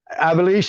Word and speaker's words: Ivelisse: Christy James and Ivelisse, is that how she pronounces that, Hannibal? I think that's right. Ivelisse.